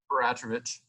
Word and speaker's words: Peratrovich: And, I'm reading up Peratrovich, is that how you pronounce? Peratrovich, yep.